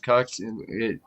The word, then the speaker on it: Qux: Oh, dude, I just got a Cux box, or well, it's called Quix, but it looks like it's spelled QUX Cux.